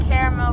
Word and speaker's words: caramel: and caramel versus caramel.